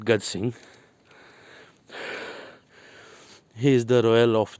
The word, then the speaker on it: Gaj Singh: गज सिंह मतलब he writes his name Gaje, Gaje Singh, but I pronounce it Gaj Singh.